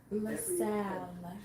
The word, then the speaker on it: LaSalle: I said Sally, but that's not how you say it clearly. The end of LaSalle experiment. LaSalle.